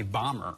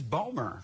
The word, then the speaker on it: Bomer: now everyone calls me bomber yeah and I'm like it's not Chua tell Ejiofor if any of you have that guy with an actus it's two syllables it's five letters it's boomer there and now my